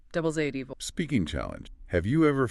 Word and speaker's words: devil's advocate: Devil's advocate. The stress is on AD. Devil's AD.